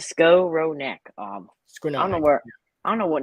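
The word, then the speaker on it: Skowronek: he throws don't laugh scaronic um let me see I had a pronunciation on the game notes it is go row neck um I don't know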